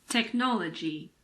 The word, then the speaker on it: technology: H is also sometimes silent after a C. For example, chemistry, mechanic, school, stomach, technology.